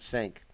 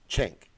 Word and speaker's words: Cenk: I know it's not Sink. I know I've been saying it incorrectly forever. Kathy says Chink. That's how you pronounce it? Chink.